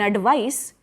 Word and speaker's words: advice: In advice, with an S sound, it is a noun. You can give your friend some advice. It has sa sound, S sound in advice, ADVICE.